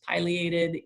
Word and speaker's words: pileated: was down south and everybody down there says pileated and let's be perfectly honest i love pie way more than i love pills so i'm gonna stick with that southern pronunciation but these birds um